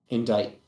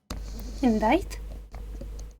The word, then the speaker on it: indict: have the backing to indict him indite indite yep that's how it's pronounced don't ask English is weird stupid language you take